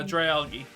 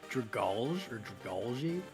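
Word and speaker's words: Dragalge: really cool tech also how did you pronounce that poison dragon pokemon uh dry algae dry algae okay yeah okay i always thought it was golgi well it's it's it's algae right so it's a dragon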